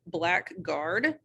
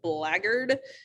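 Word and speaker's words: blackguard: word before and it does look like it's pronounced black guard it's actually pronounced blaggered and if you have heard it before it's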